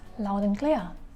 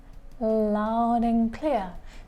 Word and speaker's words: loud and clear: The next idiom is loud and clear. Loud and clear. Be careful, we don't pronounce letter D, we just say loud and clear.